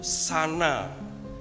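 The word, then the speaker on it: זנה: Itu pengucapannya itu sana, Z-A-W-N-A-W, sana.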